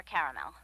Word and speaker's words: caramel: Periwinkle, Loden, or caramel? The caramel, please. The what? I'd like it in caramel. Oh, the caramel? Yeah, that's what I said, Tina. Actually, you said caramel when it's pronounced caramel.